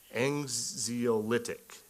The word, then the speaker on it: anxiolytic: Sertraline primarily antidepressant, not anxiolytic. Anxiolytic is how I would pronounce that.